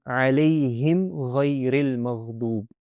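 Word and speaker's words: عَلَيْهِمْ غَيْرِ الْمَغْضُوبِ: And when any of these letters come after the Meem Sakina, the Meem should be pronounced very clearly and there will be no extra nasalization. That's the most important thing. So, alayhim ghayril maghdub.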